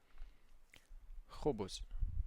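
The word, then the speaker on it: خبز: We have kha kha kha kha kha So, as if something is just stuck in your throat and you want to take it out. So, kha kha khubz bread khubz kha kha khubz kh khubz Repeat after me.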